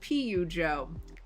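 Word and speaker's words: Peugeot: It's pronounced like Pidgeot, the Pokemon.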